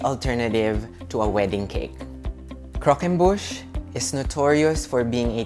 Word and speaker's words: Croquembouche: Croquembouche is how you pronounce it.